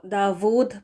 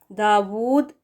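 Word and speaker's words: داود: के साथ है ना, तो इसका प्रोनाउंसिएशन देखें इधर, दाऊद जो डब्ल्यू के साथ है वो करेक्ट प्रोनाउंसिएशन है, वी के साथ पढ़ना दाऊद ये गलत है, और हमज़ा पेश लगा कर पढ़ना इसको दाऊद करके, ये भी गलत है, ठीक है।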